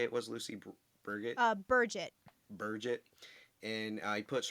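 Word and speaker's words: Birgit: No, it's Burgett actually. Burgett. How the Burgett. how the Listen, audiobook pronounces it yeah, as Burgett.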